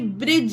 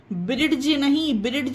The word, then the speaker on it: bridge: Sandwich, handsome, sandwich, BRIDGE, ब्रिज। यहाँ पे देखिए जी आ गया, डी के बाद जी आया तो यहाँ पे भी डी साइलेंट रहेगा, ब्रिज होगा। ब्रिड्ज नहीं पढ़ेंगे इसको ब्रिज पढ़ेंगे।